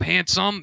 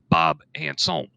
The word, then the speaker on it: Handsom: or not and uh bob handsome is actually properly pronounced bob anson so that's a little